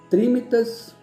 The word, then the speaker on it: trinitas: aqui do latim né e para se pronuncia é trinitas trindade não triat perdão de deus trino